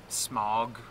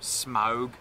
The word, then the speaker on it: Smaug: That's one problem I always have with Smog or Smaug, is pronounced properly. It is Smaug.